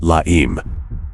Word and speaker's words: La Eme: Its members, however, called it by another name, La Eme, calling La Eme. The Spanish pronunciation of the letter M.